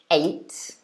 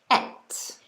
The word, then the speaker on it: ate: So as I just said it a moment ago, so you could pronounce this verb ate, so a, this sort of sound, but you could also pronounce it et, like in the second version over here.